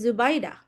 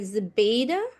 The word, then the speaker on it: Zuba: Because the Americans might not know how to pronounce your name if your name is Zuba. Like they may say like Zubeda, like you don't like the sound of it, right?